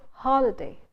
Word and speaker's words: holiday: Similarly, you don't say holiday, because if you're saying holiday, you're putting the stress on the first, you're putting equal stress on both syllables. You're saying tomorrow is a holiday, but you're supposed to stress the first syllable. So you say it's a holiday, holiday. When you say that, you don't stress the second syllable, it becomes holiday, not holiday.